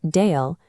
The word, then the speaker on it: Dael: The name Dael, pronounced Dael, possesses a sharp, two-syllable, gender-neutral profile that fits the current naming landscape.